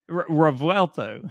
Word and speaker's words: Revuelto: So this is the Lamborghini Revuelto. Did I say it right? That? Revuelto. You forgot the V. Revuelto. There you go.